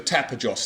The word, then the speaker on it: Tapajós: We're in a district called the Tapajós, that's the correct pronunciation.